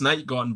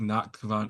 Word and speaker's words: NachtGhavnt: I mean, I know it's Night Gaunt, but I'm just gonna keep saying NachtGhavnt because it's funny.